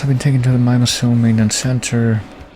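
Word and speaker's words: Mimeosome: Blades will also have been taken to the Mimosome maintenance center. Or Mimiosome is how it actually pronounced it in the game, so I guess I'll do that as well.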